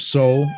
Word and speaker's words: Soul: So Joseph Soul. I pronounced the last name right too, right? Like Soul Man.